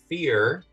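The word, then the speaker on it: Feyr: Fear. F-E-Y-R, pronounced fear, is a tentacled horror that feeds quietly on strong emotions.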